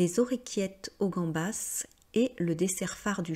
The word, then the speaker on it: gambas: Et bien tout simplement parce que gambas ce n'est pas un nom français, hein, tout comme hamburger. Donc pour les noms étrangers bien sûr, vous prononcez comme cela doit se prononcer. Donc comme en espagnol on dit gambas et en anglais on dit hamburger, vous le prononcez de cette manière.